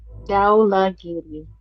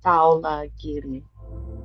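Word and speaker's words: Dhaulagiri: Okay, so it's Daulagiri or Daulagiri. So the D and H could be Da or Da.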